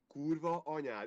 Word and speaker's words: kurva anyád: Kurva anyád.